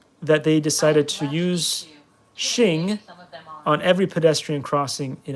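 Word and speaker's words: Xing: have these Cool Motors they're spelled like x-i-n-g Shing in in um in Chinese in Chinese in American it's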